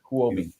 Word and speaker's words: Huobi: Huobi.